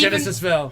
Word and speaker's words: Genis-Vell: and It's Genis-Vell.